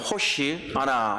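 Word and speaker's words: הושיעה נא: 우리가 호산나라고 발음하지만 호시 아나 이렇게 되는 거.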